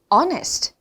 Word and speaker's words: honest: 이러시면 안 되죠 자 HR 시작하는데 허가 아니다 그죠 honest hest honest네이 단어를 활용해 주시면 되겠어요